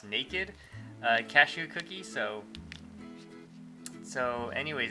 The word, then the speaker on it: Nakd: a review of this, I guess it's pronounced naked, cashew cookie, so anyways,